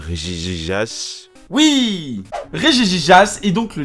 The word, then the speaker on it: Regigigas: prê Fong cette fois-ci on prononce bien son nom ok je suis prêt Regigigas regigagas euh Regigigas oui rjjijas est donc